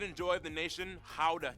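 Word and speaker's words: Gouda: joy of the nation how cheese yep that's how you pronounce it guys oh and keep I'm saying guda still keep in mind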